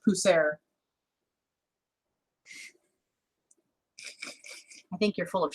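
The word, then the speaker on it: Pusser's: But anyway, I wouldn't normally pick that up, but I believe it's actually pronounced Pusser.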